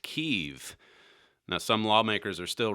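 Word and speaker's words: Kyiv: impeachment hearings yesterday is that Kiev is actually pronounced keeve now some lawmakers are still wrestling with whether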